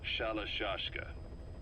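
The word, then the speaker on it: Shalashaska: The guerrillas were using the name amongst themselves, and by the time I got to hearing about it, pronunciation had wound up as Shalashashka.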